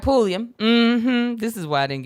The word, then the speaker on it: Pulliam: pullman what is it did i say it wrong that's it i said polium i'm sorry solroy keisha night pulliam this is why i